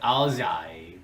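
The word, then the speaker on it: áo dài: It's actually like, I think it's actually pronounced like Aoyai, or like with a Z sound, but I think my accent, like, I always pronounce it Aoyai.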